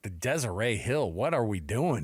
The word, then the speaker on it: Deseret: I was like, you've arrived when the T is silent on the Deseret News.